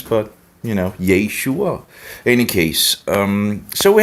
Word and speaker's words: Yeshua: how they actually pronounce Yeshua you know it's not yahshua or whatever weird conception that is out there it's Yeshua and Yeshua is the